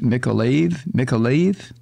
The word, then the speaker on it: Mykolaiv: in the southern region of, I guess it's pronounced Mykolaiv.